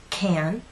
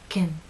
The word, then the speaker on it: can: and pushed forward can again in the second alternative pronunciation your lips are completely relaxed and your tongue is no longer flat and pushed forward the middle part is actually pushed up a bit Kim Kim Kim let's